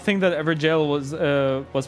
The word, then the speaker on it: Everjail: It's pronounced the exact same way as jail, and it means the exact same thing.